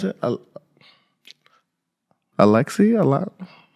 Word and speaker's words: ALYX: How do you pronounce it? Alexi, a lot.